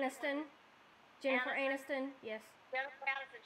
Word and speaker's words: Aniston: How do you pronounce her name? Aniston.